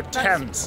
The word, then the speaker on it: Thames: Yes, there you go, Thames. Perfect. I keep saying Thames or whatever, but Thames. River Thames, guys.